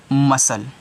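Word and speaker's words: muscle: अब इसको क्या पढ़ोगे अब इस सी को साइलेंट करोगे तो इस पूरे को आप पढ़ोगे मसल क्या पढ़ोगे मसल पढ़ोगे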